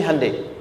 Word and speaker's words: Hyundai: sana bikin Honda sini Handai hyundaikan dibacanya Handai sana Honda apapun yang